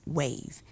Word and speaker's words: WAV: One of the groups is Women Against Violence, WAV, pronounced as WAVE.